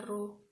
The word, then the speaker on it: rho: Yang keempat, massa jenis atau rho, itu bacanya rho, seperti P Latin agak miring, itu namanya rho, satuannya kilogram per meter kubik.